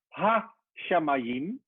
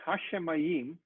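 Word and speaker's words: הַשָּׁמַיִם: shins you see that so it's not ha shamayim because when you see this maybe change my color these little dots separate the syllables so this word hashemayim has four syllables and you can see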